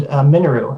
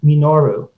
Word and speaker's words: Minoru: racetrack with my mother, she would always pronounce the name Minoru, de-emphasizing the first syllable, as all the syllables had equal kind of weight, as if the word were Japanese.